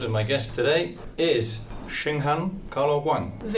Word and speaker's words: Shenghan: My name is and my guest today is Shinghan Cara Wang. Very perfect pronunciation there.